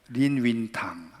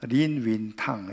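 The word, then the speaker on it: 林語堂: 임어당이라는 분인데 이 임어당을 중국 발음 그대로 하니까 린윈탕 이렇게 되더라고요.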